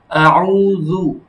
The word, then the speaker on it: أعوذ: আউযু আমার গোলটা কি হচ্ছে? গোল হচ্ছে না? পেশের যত উচ্চারণ আছে, হ্যাঁ? পেশের উচ্চারণ গোল করে হবে।